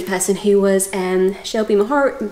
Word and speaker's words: Mahurin: who was um shelby maher she told me how to say i asked her because i kept saying it wrong she'll be her and it's a hard h and really really lovely